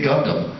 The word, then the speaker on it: Gundam: two words for you technically three actually it's just two syllables you say gundam there it is nuclear